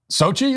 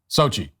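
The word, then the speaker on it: Xóchitl: you just can't it's Sochi is what I'm being told how that's Sochi that's how you pronounce that SOI say it again Sochi SOI hoha so the X sound is an S sound and then there's this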